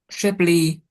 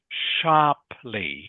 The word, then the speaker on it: sharply: So it's pronounced sharply. Can you say that please? Sharply. Sharply. Good. Much better.